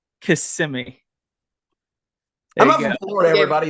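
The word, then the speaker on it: Kissimmee: got to interrupt what how did you pronounce it is it kiss me thought it was kissy kissimi I'm Florida everybody it's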